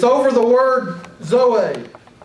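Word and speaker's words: ζωή: Is it Zoe or Zoe? Zoe. The the emphasis is on the last syllable.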